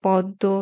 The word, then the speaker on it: পদ্ম: একটা চন্দ্রবিন্দু দিয়েছি আবার শব্দের মধ্যে বা শেষে ম ফলা যুক্ত হলে বর্ণের দীপ্ত উচ্চারণ হবে ঠিক যেরকম আমরা ব ফলা উচ্চারণের নিয়মে পড়েছি যেমন ছদ্দ পদ্ম রশ্মি ভস্য আত্মা এখানে ওই বর্ণগুলোর দুইবার উচ্চারণ হয়েছে ব ফলা উচ্চারণের তিন নাম্বার